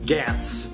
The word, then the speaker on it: Gantz: I don't know exactly how you pronounce it. I'm gonna say it the way the characters say it in the movie, which it's Gantz.